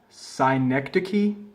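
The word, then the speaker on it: synecdoche: that face okay so our last one is pronounced sign next to key sure that sounds right so a sign x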